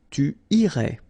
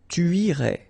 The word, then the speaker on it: irais: Tu irais. Same thing here, final S not pronounced.